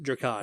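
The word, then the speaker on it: Drakan: We will be back to our normal schedule next episode where we will be doing I think it's pronounced Dracon. Yes, Dracon.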